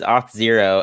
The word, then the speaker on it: Auth0: it so people like do you pronounce it as auto or zero i pronounce it as hot zero so how easy to pronounce yeah yeah it is it is off zero and thankfully we we